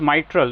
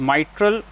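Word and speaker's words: mitral: तो इट इज माइट्रल the pronunciation pronunciation पे ध्यान दीजिए।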